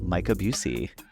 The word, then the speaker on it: Micah Bucey: We have the wonderful Micah Bucey.